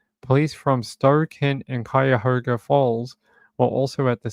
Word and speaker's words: Cuyahoga: I had to look up this word before the show because it has a U here, but it's actually like, it's sort of silent. They pronounce it Cuyahoga like that, not Cuyahoga or whatever this says.